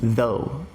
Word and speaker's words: though: A pronúncia dessa palavra é though.